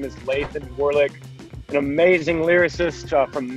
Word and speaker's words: Lathan: Why I Love Dirt Roads, featuring Christian rapper Lathan Warlick. Is that how you say his name, Granger? Lathan.